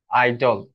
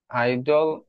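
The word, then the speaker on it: idle: আপনি বলেন যে আইডল এটার উচ্চারণ আইডল আইডল দুইটা সেম উচ্চারণ সেম অনেকে বলতে পারে আলাদা আলাদাভাবে কিন্তু না উচ্চারণ উচ্চারণ একই আমাদের কঠিন করার দরকার নেই।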